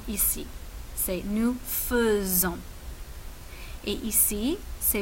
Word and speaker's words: nous faisons: Je fais, tu fais, il fait, nous faisons, vous faites, elles font. Très bien. Attention à la prononciation ici. C'est nous faisons.